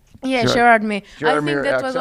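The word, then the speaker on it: Gérardmer: How do you pronounce that? Gerardmer? Yeah, Gerardmer.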